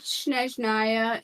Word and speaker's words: Snezhnaya: You'd only have to do Natlin, Snezhnaya, and then they're gonna have a Celestia Please say level.